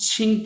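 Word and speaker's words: 青: और जो इसका राइटर पार्ट है इसको भी हम छिंग पढ़ते हैं। क्यू आई एन जी छिंग। इसका मतलब होता है ग्रीन। चाइनीस में इसका मतलब होता है ग्रीन छिंग। और इसकी प्रोनाउंसिएशन जो है वो क्यू आई एन जी है विथ द फर्स्ट टोन।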